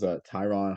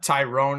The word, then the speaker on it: Tyron: Tyrone is how most of everyone calls it. I believe it's Tyrone, but honestly, it's been a minute since I've heard the name, so I need a refresher myself.